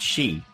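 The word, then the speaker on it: 四: on this so and in japanese number four is pronounced she as in and for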